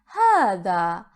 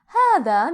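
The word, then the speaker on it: هذا: in arabic let's start with the first pronoun hada hada means this hada it is the masculine singular pronoun hada pay attention to the pronunciation it is for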